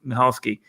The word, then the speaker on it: Michalski: it's spelled m-i-c-h-a-l-i-s-k-i i think but it's now pronounced michalski this this guy so in case you guys